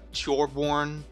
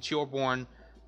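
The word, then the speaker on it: Torbjörn: It's like I was like so focused on making sure I got Torbjorn, the fucking Swedish pronunciation right, that I like Swedishly pronounced dwarf.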